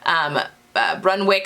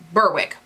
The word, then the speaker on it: Berwick: chosen the Sewing Workshop Brunwick Street, is that how you pronounce it? Berwick Street tunic, and I lengthened it a little bit to turn it into a dress.